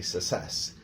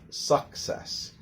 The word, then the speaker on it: success: Okay, so the CC followed by an I or an E has that sound. Now, what do most students do when they do it wrong? They usually pronounce it as almost like a double S.